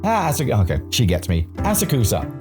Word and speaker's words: Asakusa: Hey love, how'd you pronounce that place again? Inioto? Asakusa! Okay, she gets me. Asakusa.